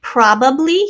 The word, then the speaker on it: probably: the long e sound probably here's prob i know this is a short u here i mean short oh sorry prob probably right three syllables probably probably separate or